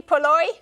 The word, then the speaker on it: poori: forget but this is porori porori so I think this is am I saying it correctly poori yes they look scrumptuous and